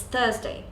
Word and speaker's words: Thursday: wenesday it's Wednesday Wednesday it's Thursday you don't have to pronounce the T in the end it's just Thursday it's simple not as